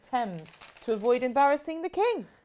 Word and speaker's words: Thames: And Sylv Sparkley says Thames used to be pronounced as it is spelt until King George I, who was German, couldn't pronounce it, and the whole court started pronouncing it Thames to avoid embarrassing the king.